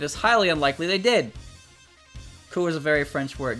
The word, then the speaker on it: coup: Coup is a very French word. Yes! Yes, it is. That's why I said that one. I said that one correctly. I didn't pronounce the P, but I've never seen